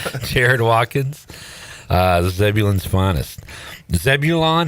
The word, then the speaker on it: Zebulon: Zebulon. How do you say it? Zeblin. Zebulon. Zeblin.